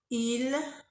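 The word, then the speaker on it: ils: elle nous vous il et elle on ne prononce pas s au pluriel dans il et elle alors je vais recommencer plus vite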